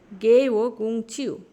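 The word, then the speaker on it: 给我工具: গে ওয়া গোংচিউ, এগুলো হচ্ছে ফলিং এবং রাইজিং টোন, এই দুইটা, এটা ফলিং টোন।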